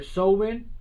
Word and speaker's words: Samhain: And it's actually, sometimes it's pronounced, depending on where you look at it, it's either Samhain or Samhain.